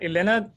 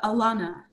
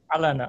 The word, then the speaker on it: Alaina: a lot matthew uh elena can you are you ready can you share your screen and now i can am i pronouncing your name correctly uh it's uh alana alaina i'm sorry so um